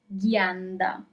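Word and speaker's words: ghianda: So, here for example, you have g h i. You have the sound g because you have gh and then you have e that is i in English but in Italian it's e.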